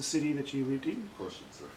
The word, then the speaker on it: Košice: Košice. Košice. It's called Košice again. That's spelled K-O-S-I-C-E.